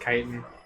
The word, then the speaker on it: chitin: I hate that it's pronounced chitin.